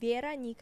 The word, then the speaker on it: Veranica: So my name is Veranica. It's with an A. So you Veranica. Vera and then Nika. Veranica. Yeah, Veranica. Veranica. Mhm. See, I learn something new every day. So the amazing Veranica, Mhm.